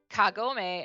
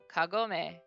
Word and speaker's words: Kagome: it but it's like the difference between kagume and kagome and kagome kagome is the english pronunciation kagome is the japanese uh the emphasis that's